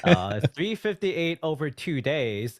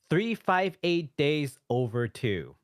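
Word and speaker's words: 358/2 Days: 358 over 2 days is officially pronounced 358 days over 2.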